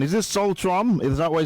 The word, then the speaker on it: Solstroem: Is it Solstroem? Is that what it's pronounced? Because Solstroem. Oh, yes. Solstroem.